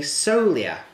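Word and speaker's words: Sogliola: we go it's a Solia I'm pretty sure I've got that right the G is not pronounced it's so Lea basically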